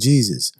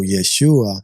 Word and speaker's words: Yeshua: called Jesus ever existed because the letter J and that whole sound that they pronounce his name didn't exist in that time the letter J has only like 500 years in existence. You know what I'm saying? So Yeshua is his name.